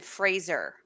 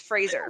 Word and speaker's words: Fraser: He said his name is pronounced Brendan Fraser. Oh, really? Fraser. Well, regardless. He made like a joke. He made like a silly YouTube. He's like, everybody mispronounces my name. It's Fraser.